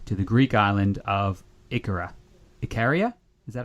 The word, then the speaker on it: Ikaria: Most recently, Marcus ran a longevity retreat to the Greek island of Ikaria. Ikaria? Is that how you say it, Mark? Ikaria.